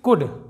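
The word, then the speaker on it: could: अगला एग्जाम्पल देखते हैं, कुड। कई लोग इसे कुल्ड पढ़ते हैं, जो बिगनर्स होते हैं वो इसे कुल्ड पढ़ते हैं और इसे वुल्ड पढ़ते हैं।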